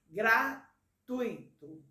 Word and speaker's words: gratuito: preste atenção para você pronuncia essa palavra gratuito né tui não pode separar ruim entendeu e por